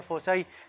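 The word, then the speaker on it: foci: इसी तरह आपके पास जो फोकाई है जो थर्ड वन आपके पास है, कुछ लोग इसको प्रोनाउंस करते हैं फोकाई, कुछ कहते हैं फोसाई। ठीक है, दोनों करेक्ट है।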